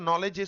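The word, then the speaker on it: knowledge: সে হয়তো নলেজের স্পেলিংটাকে জানে কিন্তু কে এন ওডব্লিউ এলইডিজি এর উচ্চারণ যে নলেজ এটা ওর জানা নেই কেন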